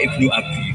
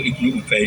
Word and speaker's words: Ibnu Ubay: Dia bacanya Qala Ibnu Abi, anaknya bapak ingsun. Niku ora kula. Niku Ibnu Ubay jeneng ora ono hubungane mek kowe.